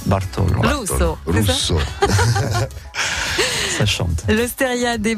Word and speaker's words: Russo: Russo.